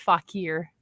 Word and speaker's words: Fauquier: the uh in the gift shop the it's pronounced fakir it definitely stumps people actually when I first